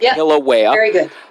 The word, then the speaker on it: Kilauea: again Kilauea Hook Kilauea killer whale is how I'll try and remember that Kilauea and her name is